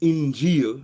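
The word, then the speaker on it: Injil: so when you say injeel and it reminds me it rhymes with reveal as well injeel means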